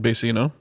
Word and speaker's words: Vecino: But first, let's get into the new thing, Vecino, correct? Yeah, or, with the Mexican pronunciation, Vecino. Okay. The V's and B's in Spanish are usually pronounced similarly or the same.